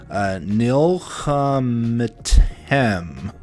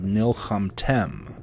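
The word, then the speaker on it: נִלְחַמְתֶּם: We've got nilcham, and I said metem, but actually, since this is closing, it's preceded by a short vowel. This is silent, so we have nilchamtem.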